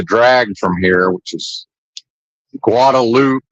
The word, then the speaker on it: Guadalupe: Can't see the drag from here, which is Guadaloop. And yes, they do pronounce it Guadaloop. Not Guadalupe.